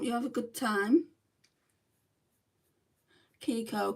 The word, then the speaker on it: Kiko: good I hope you have a good time Kiko Kiko Cosmetics it's spelled k i KO um and then Cosmetics